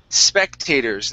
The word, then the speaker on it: spectators: And our last one here is spectators. Instead of spectators, take off that E. Spectators. Spectators. Okay, one more time. Spectators. All right, remove that E there.